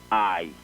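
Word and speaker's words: aye: All they are there to do is to add numerical value to the side that wants to hear I. And that I there is A-Y-E. It's spelled A-Y-E, I.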